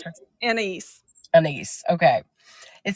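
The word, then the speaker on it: Anaïs: How do you pronounce her? Anais.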